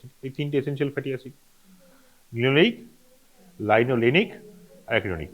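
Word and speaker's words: linoleic: উচ্চারণটা এইভাবে করলে সুবিধা হয় মনে রাখতে। কীভাবে বললাম? লিনোলেইক। তুই যদি উচ্চারণটা অন্যভাবে করিস, কীভাবে করবি? লাইনোলেইক, লাইনোলেনিক। লেইক লেনিক এটা কানে না সমান শোনায়, সেম। সেই জন্য স্টার্টিংটাকে সায়েন্টিস্ট একটু অন্যভাবে বলে, লিনোলেইক, লাইনোলেনিক, সো দ্যাট ওই লেনিক পোর্শনটা সমান হলেও, কাছাকাছি সমচ্ছয়িত হলেও,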